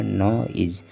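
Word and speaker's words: noise: और जो लास्ट में ई है, ई को हमें नहीं पढ़ना है, ई साइलेंट है। हमने आपको पहले भी कई बार बताया है कि जब किसी वर्ड के लास्ट में ई हो, अंत में ई हो, तो ई ज़्यादातर साइलेंट रहता है। तो हो गया क्या? हो गया नॉइज।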